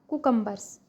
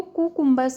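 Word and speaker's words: cucumbers: खीरे को काट लें, स्लाइस द कुकम्बर्स। Slice the कुकम्बर्स। खीरे को कुकुम्बर्स नहीं बोलते हैं, इसका प्रोनाउंसिएशन है कुकम्बर्स।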